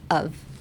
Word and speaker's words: of: って感じ。of じゃなくて of って感じです。of。